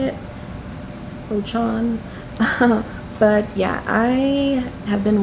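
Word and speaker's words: Rochon: is Almost There, A Twisted Tale by Farah Rochan. That's how you say it, Rochan.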